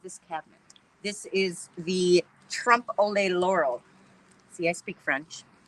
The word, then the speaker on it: trompe l'oeil: a helper for me I think of Frito-Lay but it's Trump Olay Trump AAA not Frito-Lay trampoline Laurel so you